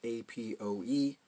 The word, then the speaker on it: APOE: video from a scientist he actually pronounces it a PO e for so whether it's apoE or a PO e I mean it's referring